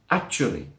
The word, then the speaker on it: actually: Yes, it looks like actually, the way it's written with 4 syllables, but we drop one, we drop the schwa sound, and it becomes actually. Actually. That's right, there's 3 syllables now.